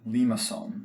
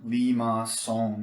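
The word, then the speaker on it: limaçon: particular pattern that is called a lima song lima song you get that little accent there on the c that's a bit awkward to pronounce in english it comes from an old french word meaning snail where generally we're going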